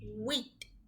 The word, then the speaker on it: huit: HUIT, wheat, because H is silent and UIT is pronounced as wheat.